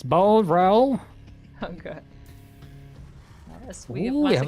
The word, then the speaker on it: Boreal: We have to find out how to pronounce Boreal. Like, is it French? Is it Portuguese? Is it Spanish? Is it none of the above? It's Boreal.